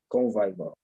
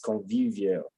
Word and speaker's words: convivial: the world is convivial some people used it as convivor uh it's convivial like yeah pronouncing Vivian on